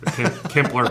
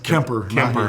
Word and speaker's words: Kemper: We are just not Kempler kind of folks, or what is it called? It's Kemper. sorry.